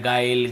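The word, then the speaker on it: guile: यदि किसी भी है ना ए इ आई ओ यू के पहले यदि आपको यू मिलता है तो फिर हमें उसे नहीं पढ़ना है। ऐसे पढ़ना है। गाइल, गिल्ड, गिल्ट, guitar, guard, biscuit.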